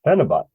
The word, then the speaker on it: phenibut: great wow and that is exactly how it's pronounced penot I we're all thinking dinitrophenol we we've talked